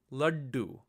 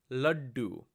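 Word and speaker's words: लड्डू: Again, it's difficult to pronounce this letter as is, but you'll hear it clearly in words like laddu, laddu.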